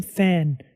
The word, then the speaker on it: Fan: So NVIDIA's AI scientist researcher, his name's Jim Fan. Great follow on Twitter, by the way. Also great last name. So that's F-A-N. That's not P-H-A-N. That's Jim Fan, but pronounced the same.